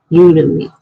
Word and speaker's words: Udemy: You pronounce Udemy pretty much like you would Academy. Udemy.